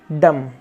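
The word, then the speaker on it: dumb: climb next word है डी य एम बी इसको क्या पढ़ा जाएगा डम क्या पढ़ा जाएगा डम जिसका मतलब होता है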